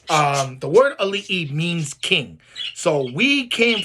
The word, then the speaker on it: ali'i: like to use the word ali which is spelled a l i okina i which some people call the comma in between the two eyes but we call it okina um the word ali'i means king so we